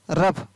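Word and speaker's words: rough: ROUGS, रफ, तो यहाँ पर भी GS से फ बन रहा है।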